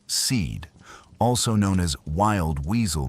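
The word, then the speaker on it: SEAD: and that's C A suppression of enemy air defenses pronounced seed also known as wild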